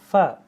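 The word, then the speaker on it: ف: হু এরকম রইন তারপর হচ্ছে ফা ফা কিভাবে উচ্চারণ হবে নিচের ঠোটের নিচের ঠোটের সাথে তোমার উপরে দাঁত লাগবে হ্যা ফা ফা ফা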